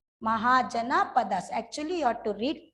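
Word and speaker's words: Mahajanapadas: Mahajana Padas. MAHA Maha. JANA Jana. Then Padas. PADAS. Mahajana Padas.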